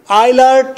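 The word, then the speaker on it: Eilert: you know आइलर्ट लवबोग, आइलर्ट ई जी जे, जे को साइलेंट कर आइलर्ट कहना है, आइलर्ट जे साइलेंट, आइलर्ट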